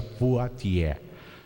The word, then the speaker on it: Poitiers: foi Hilário de potier se escreve poitiers mas se pronuncia potier Hilário de poti dois